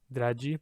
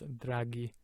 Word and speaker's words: draghi: that draghi draghi right without the h it would be g dragee but with the h it's draghi the second word gyacho